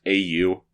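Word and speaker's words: AEIOU: His name identifies him as A-E-I-O-U, but it's pronounced A-U, just to be clear.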